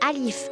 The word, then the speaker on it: Alif: et voilà ça c'est Alif mais ça se prononce un peu plus long que le a c'est une double syllabe non non ce n'est